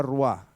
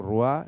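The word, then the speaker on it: רוח: Pero de hecho, ya lo mencioné, en hebreo, espíritu es femenino, es la espíritu, es la ruá, Yahvé. Así se pronunciaría en hebreo, ruá, Yahvé.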